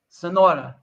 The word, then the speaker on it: Cenoura: all right so uh how do you say your last name Sonora okay Sonora is this like carrot you know like Kerry and Portuguese oh it's Portuguese okay